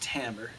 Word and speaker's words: timbre: with the rhythm timbre looks like timber t-i-m-b-r-e but it's pronounced tambour timbre is tone color